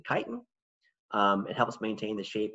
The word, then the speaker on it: chitin: of chitin that polysaccharide that people always mispronounced chitin it's actually chitin it helps maintain the